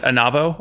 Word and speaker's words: Onavo: Pronounce it Onavo or spell it?